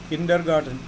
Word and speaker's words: kindergarten: Garden नहीं है, गार्टन. किंडरगार्टन छोटे बच्चों को पढ़ने का जगह.